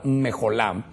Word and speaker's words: mecholá: Ahí la pusimos, aunque se escribe mecholá, es la palabra mejolá y es una palabra que que trae panderos y danza.